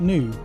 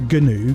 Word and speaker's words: GNU: But new is pronounced new. No, it's not. No, Genpai. Genpai's wrong. It's new. It's only Michael that pronounces it GNU because it works really well with his GNUs.